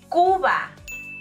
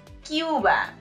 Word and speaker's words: Cuba: It's Cuba, not Cuba, all right?